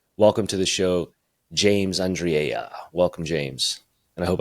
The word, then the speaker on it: Andriella: I pronounced that correct I gave you the Spanish Y for the Double L yeah I like it Andre and it's more Italian it seems Spanish but it's Italian yeah no but it's